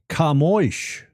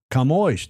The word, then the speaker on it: Camões: But this guy's name, and I had to check to see how it's pronounced, Camões. Camões, Day of Portugal, Camões, and the Portuguese communities.